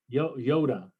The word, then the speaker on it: iota: follows after lambda capta lonnie quinn is saying that we're mispronouncing iota he claims that uh the greeks um the greeks pronounce it differently well how do you well how did they pronounce it yoda oh yoda yeah okay